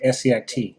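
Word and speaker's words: Essiac: patients and so scit is spelled e-s-s-a-i-c okay e-s-s-i-a-c so it's renee case's last name spelled backwards and so this is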